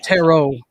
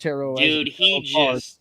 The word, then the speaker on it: Tarot: yeah I saw that the Taro excuse me pronounced Tarot he ripped out a